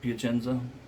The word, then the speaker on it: Piacenza: Piacenza. That's how you pronounce it, right? Piacenza.